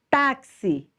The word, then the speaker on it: táxi: ou trazer para vocês táxi tá se então tá é a sílaba mais forte k k já então